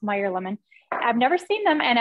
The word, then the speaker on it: Meyer lemon: using our French Pantry the um mayor lemon now I actually have never seen um I think it's pronounced Meyer lemon I've never seen them